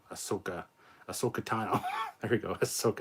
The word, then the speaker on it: Ahsoka: was kind of fun uh definitely seeing a asaka ashaka ahsoka asokatano there we go let's soak it down i'll